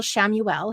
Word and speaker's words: Chamuel: So call on Archangel Samuel. His name is spelt Chamuel. Samuel, kind of like Samuel, but with a CH instead of an S, and ask him for